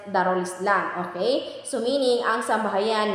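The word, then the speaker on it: Dar al-Islam: ang kanilang lupain ay Dar Al Islam Ano ba yyung Dar Al Islam um in Arabic we we pronounce it darul Islam Okay so meaning ang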